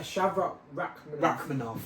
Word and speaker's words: Shavkat Rakhmonov: Shavkat Rakhmonov. Oh, yeah. See, I've got you there. Yeah? I've got the pronunciation.